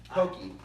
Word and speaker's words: poke: like self-serve poke okay can we get a pronunciation check there okay okay yeah Pokey Japan okay you're right you're right I'm sorry